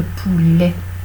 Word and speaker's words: poulet: Le poulet, on ne dit pas le poule, on dit le poulet. C'est-à-dire que ça s'écrit ET, mais on prononce E.